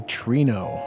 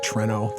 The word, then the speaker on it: Treno: And now we can head to Trino. I know some people call it Treno. That's probably even the right pronunciation. I call it Trino.